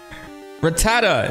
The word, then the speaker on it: Rattata: Rattata. For the longest time, I called them rattata. Like a gunshot.